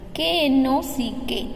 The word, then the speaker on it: knock: K-N-O-C-K, knock. K is silent.